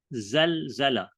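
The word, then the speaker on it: زلزلة: mana Dia dalam bentuk Zalzalah pronunciation dia adalah maksudnya Seca sebutannya adalah zalzala okey zalzala maksudnya Apa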